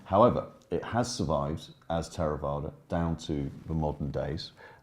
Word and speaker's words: Theravada: In Pali, I pronounce it Theravada. Theravada is perfectly acceptable as well.